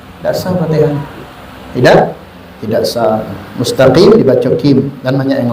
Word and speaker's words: mustaqim: Ihdinas siratal mustaqim. Qaf, bukan kim. Mustaqim kadang mustaqim. Qaf diganti kaf. Jelas kalau cuma sedikit masih orang itu dibacanya qaf, masih selamat.